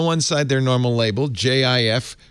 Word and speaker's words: Jif: side they're normal label jif creamy peanut butter soft g pronunciation on the far side